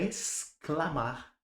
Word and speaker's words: exclamar: Na palavra exceto, assim como na palavra desc, eu tenho dois duas letras com apenas um som, exceto parece que eu tô falando um, um fonema só, uma letra só.